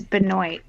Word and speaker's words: Benoist: It's Benoit. She doesn't pronounce it French.